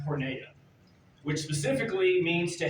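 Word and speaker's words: πορνεία: sexual immorality Jesus says the Greek word for sexual immorality is pronounced pora which specifically means means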